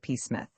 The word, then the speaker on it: Psmith: Pith. The P is silent, as in pea shrimp, he reminded her.